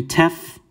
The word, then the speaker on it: Tef: it simple it's going to be tef so a t it's going to be pronounced phonetically like that tef now depending on the